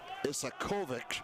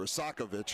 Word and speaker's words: Isakovic: Tape-to-tape pass the hard way, ends up on the foot of Isakovic. Or Isakovic, I'm sorry. I always put the accent on the wrong syllable as it comes across.